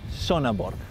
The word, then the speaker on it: Sønderborg: Sønderborg. Y la O esa que es como la O de River.